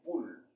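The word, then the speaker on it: Pouls: le troisième pôle ici qui s'écrit P o u L S et qui s'appelle poule et une et cela signifie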